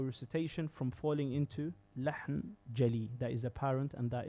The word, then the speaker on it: jali: So jali, G-A-L-E-E, jali.